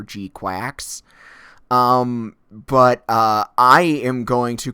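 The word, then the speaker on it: GQuuuuuuX: I'm told that the pronunciation, and listening to the Japanese trailer, it sounds like G-Cox or G-Quacks.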